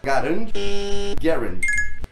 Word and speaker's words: Garand: que fala Garand ou tem gente que fala Garand. Existe uma forma certa de ser pronunciada, Garand.